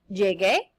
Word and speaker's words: llegué: Llegué. Notice that I put the U there for the pronunciation, or else it would sound like llegué.